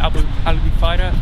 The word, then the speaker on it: Albufeira: Look, that's how you say it, Albufeira, and I had a field day with photos just before sunset, as you can imagine.